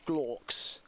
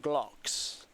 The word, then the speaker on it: Glocks: Right, the word that you're typing in chat is pronounced Glocks. So I don't know what you're suggesting I'm saying, but I'm saying Glocks with an O.